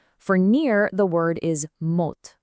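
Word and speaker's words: մոտ: For near, the word is mot, pronounced mot.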